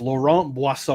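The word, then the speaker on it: Laurent Brossoit: All right, so the correct pronunciation is Laurent Boisson.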